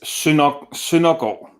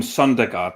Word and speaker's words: Søndergaard: In Danish, it's Søndergaard, but just call him Søndergaard. That's fine. I do that myself in my videos.